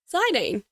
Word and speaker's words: Zidane: For the purposes of this being a nostalgic play through, I'm going to call him Zidane.